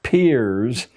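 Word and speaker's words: Peirce: has produced he was it's pronounced peers but it's spelled as if it were pierce charles s pierce a strange figure a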